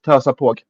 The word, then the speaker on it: Törsapåg: Törsapåg is how that word is pronounced, by the way.